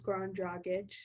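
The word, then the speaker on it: Goran Dragić: Dragic when it's Goran Dragic. Goran Dragic is not that hard to say, Jesse. I'm sorry. I say But Dragic, it's Dragic. the whole thing is 4 syllables.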